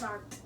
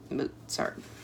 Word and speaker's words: Mozart: Wolf Gang Amadeus Mozart for proper pronunciation sound out a t in the first syllable of Mozart we did that moart moart he was complicated a complicated